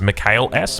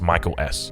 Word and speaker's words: Mikhail S: I know a lot of people will refer to him as Mikhail S because that's how it looks like it's pronounced, but I went on his stream, I asked him how it's pronounced, and he said it's pronounced Michael S.